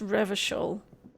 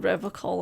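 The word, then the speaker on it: Revachol: Gave me pronunciation there, so it's Revershul. I was calling it Revacol and I wasn't sure if that was correct or not.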